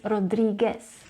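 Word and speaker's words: Rodríguez: The second problem with this name is that the letter U is usually pronounced when the non-native Spanish speakers say the brand Rodriguez. You need to remember that the letter U is actually silent, so it is Rodriguez.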